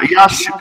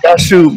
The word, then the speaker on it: Yashu: How you pronounce your name? That's yeah, Joshua? Yashu, but that's fine. You can pronounce it.